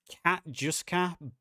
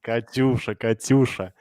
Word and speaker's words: Katyusha: Hickel asked, I don't know how to pronounce this. He asked it a while ago. Will the Soviet faction have the Katjuska BM-30-16? Katyusha.